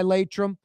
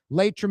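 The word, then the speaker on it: Laitram: That segment on a Friday with Michael Heck from Greater New Orleans Inc., always brought to you by Latrim, a culture of innovation.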